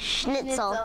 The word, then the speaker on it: Schnitzel: Schnitzel.